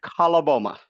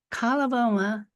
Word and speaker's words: Coloboma: You said Coloboma. Coloboma, at first as a child didn't seem like all that tragic or all that difficult.